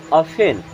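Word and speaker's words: often: अफेन, अब यहाँ पे टी साइलेंट होता है, इसे आफ्टर नहीं पढ़ते, इसे पढ़ते हैं अफेन।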